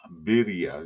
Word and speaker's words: birria: Birria. You gotta roll your R's though. I can't roll my R's. Birria. Yeah, That's Berea. Same thing. Birria. Berea. Same thing. Berea. Like La Brea Top Hits.